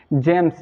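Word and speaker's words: gems: हाँ, तो फ्रेंड्स, अगर जी के बाद ई, आई या वाई आता है तो वहाँ जी का उच्चारण जो होता है ज के रूप में होता है। हम जी को वहाँ ज पढ़ते हैं।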